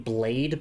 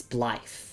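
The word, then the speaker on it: Blaidd: Like I was saying Blade before, but it's it's BLE, right? Cuz it's it's Welsh for wolf.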